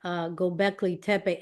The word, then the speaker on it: Göbekli Tepe: And by the way, is it Gobekli Tepe or Tepe? Either Does it either matter? one. I've heard people pronounce it and mispronounce it so many times, but yeah, Gobekli Tepe or Tepe, either one.